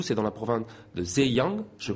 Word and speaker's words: Zhejiang: Vous venez de Wenzhou, c'est dans la province de Zhejiang. Je prononce correctement. C'est ça, Zhejiang.